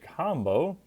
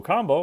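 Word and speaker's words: Kambo: do you recommend it so combo which is spelled k a m b o does look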